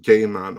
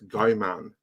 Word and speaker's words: Gaiman: pronounced neil gaiman yeah probably it is pronounced gay man i'm not entirely sure i think i believe he has said that that saying gay man is fine it's just like it's weird for me to pronounce it that way so like in my head i always read guy man but um there was no one there in norway to tell me the correct pronunciation it is and then to wrap